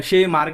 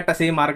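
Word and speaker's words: Tschermak: D rise coherence और ये शे मार्क या टसे मार्क कुछ भी बोल लो है ना वैसे टी शायद साइलेंट ही होता होगा ऐसे-ऐसे नाम में है ना ठीक है तो क्रोमोसोमल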